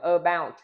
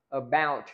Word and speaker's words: about: Đó, chúng ta không đọc là about mà chúng ta đọc là ờ, about. Chúng ta nhấn âm tiết âm số 2.